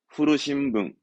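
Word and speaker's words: 古新聞: 후르신붕.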